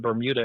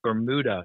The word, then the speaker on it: Bermuda: I was with said, no, it's not Bermuda, it's Bermuda is how they pronounce it.